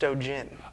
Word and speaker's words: Stogin: I'm going to start with saying it's pronounced Stogin.